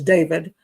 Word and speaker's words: D4VD: Okay, singer D4VD, which is David, reportedly now is a